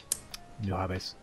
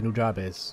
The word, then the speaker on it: Nujabes: one do you think I said new NZ and I was like this is Japanese you don't pronounce it like Spanish if it was Japanese be like nujabes or something yeah nujabes actually someone